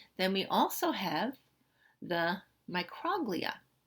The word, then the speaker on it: microglia: Okay, then we also have the microglia. Now you can also pronounce this microglia. All right, so you can pronounce it both ways.